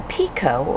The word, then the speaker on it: picot: The T is silent, just as it is in French, and the word comes from the French pique, which means to make a point.